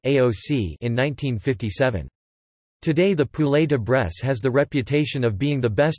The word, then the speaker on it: poulet de Bresse: The poulet de Bresse, French pronunciation, pou, ld, bees, or volaille de Bresse is a French chicken product which has appellation d'origine contrôlée status.